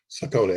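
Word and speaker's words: Sokoni: So BCN, and you pronounce it Sokini? Sokini, S-O-K-O-N-I.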